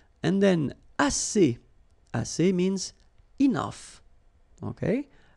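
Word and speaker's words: assez: all right and then as si si means enough okay SC remember two vowels here ah and then and then double s so it's really strong to s SC SC o que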